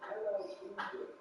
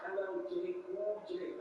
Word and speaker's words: LL Cool J: It's not like Joe Biden was speaking on somebody that is it's LL Cool J, not LLJ Cool J.